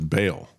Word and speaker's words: Baal: And yet if you look at the cult of Ball uh that is there again just as a background um always um would pronounce it as Baal uh because it's B A L again an ancient um